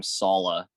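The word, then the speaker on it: Saleh: with a new quarterback robert salah yes i pronounced it right this time salah and zach wilson i saw i saw the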